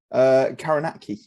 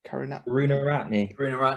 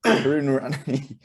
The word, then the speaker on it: Karunaratne: Karanaki. Is that how you say it? Karunaratne. Karuna. Thank you. Karunaratne.